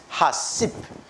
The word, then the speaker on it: HACCP: HACCP, pronounced HACCP, right, is a food safety system that prevents disasters such as foodborne illnesses outbreak, right, from occurring.